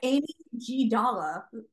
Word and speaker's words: amygdala: it's Amy G. Dalla is how it's pronounced.